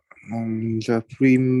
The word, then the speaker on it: Prime: The Prime Minister thinks there may be a conspiracy to overthrow him.